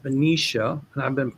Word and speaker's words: Benicia: And then somebody told me it's pronounced Benicia, and I've been mispronouncing it with Benia. It's Benicia.